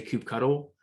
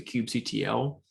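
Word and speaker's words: kubectl: from the command line it is pronounced a few ways and they are all right i personally made the decision it's very personal that when i speak about the tool itself i say cube cuddle and when i'm talking about running a command i pronounce a cube ctl i have no idea why but i made that decision in my mind but truly cannot be changed let's go ahead and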